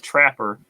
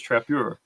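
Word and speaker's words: Trappeur: uh yeah it's like it's written in french it's t-r-a-p-p e-u-r it's not trapper it's trappier oh so this this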